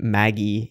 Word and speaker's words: Magi: that's what they are they say it Maggie in Japanese but it's it's Magi there are so many